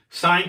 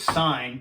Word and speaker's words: sin: Sine, cosine, tangent. The abbreviation for sine is S-I-N. It's not sin, it's sine.